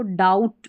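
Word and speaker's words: doubt: तो यहां पर उच्चारण दिया है। इसको डाउट पढ़ते हैं। अब बी का साउंड नहीं आएगा।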